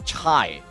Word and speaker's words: Chai: Max did C ha pronounced as chai ah as in chai t thank you okay